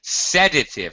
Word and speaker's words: sedative: but I hope not sedative first of all first syllable stress a sedative is something